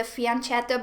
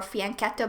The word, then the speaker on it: fianchetto: We have given up our most beautiful piece, the fianchetto bishop or fianchetto bishop, both pronunciations are fine, I believe, in chess.